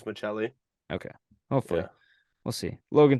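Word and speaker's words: Maccelli: pronounced that correct m-a-c-c-e-l-l-i how would you say that McKelly I I think I think Double C for Italians Michelli okay hopefully we'll see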